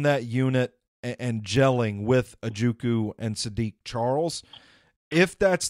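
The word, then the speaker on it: Ojukwu: And I'm a big proponent of it's Ajukwu. I keep forgetting the W is silent.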